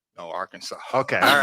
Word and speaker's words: Arkansas: Now, do you pronounce it Arkansas? No, Arkansas.